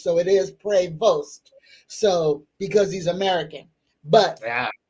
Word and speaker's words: Prevost: So for for everybody now he's American so it's not pronounced prevo uh like the French so it is prevost so because he's American